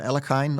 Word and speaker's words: Alekhine: You could almost add, unfortunately, it was of course Alexander Alekhine, or closer to the Russian pronunciation is, I believe, Alyoshin.